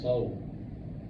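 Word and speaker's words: Seoul: the zoo we made it installed what is pronounced soul South South Korea whatever come on he's supposed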